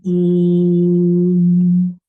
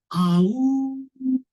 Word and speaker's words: Om: The one syllable Om. Because Om is all inclusive. Om, the whole creation, maintenance and destruction is happening within the Om. Many people say, Aau. Jackal. Om nahi bolte. They don't say Om.